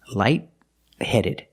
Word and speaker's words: light-headed: The T in light is a stop T, light-headed. You put the tongue up to stop the air, but you don't release the T.